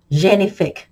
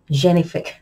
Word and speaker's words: Génifique: talk about the Lancome genifique I think that's how they pronounce it it's French it's Lancome genifique it's Lancome signature skincare